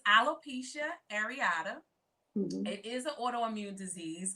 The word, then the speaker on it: alopecia areata: what is it called because i tried to pronounce it i said i'm a little come on yeah so it's alopecia areata it is an autoimmune disease it causes one's